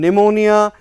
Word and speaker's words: pneumonia: For example, in pneumonia, in psychology, you can see that the word P, letter P is silent.